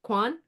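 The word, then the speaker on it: Quyon: Quan? Quion?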